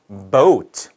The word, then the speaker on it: boat: 자, boat라는 글자가 있어요. 그럼 B-O-A-T 이렇게 되어 있죠. 그렇죠? 모음이 몇 개예요? O, A가 있으니까 두 개. 그러면은 모음의 개수니까 이건 이음절. 맞아요? 아닙니다. 자, 이거의 발음 기호를 보게 되면은 boat 이런 식으로 되어 있거든요. boat, o 해서 이거는 1음절. 네, 1음절입니다. o, 네, 소리가 하나예요, 하나.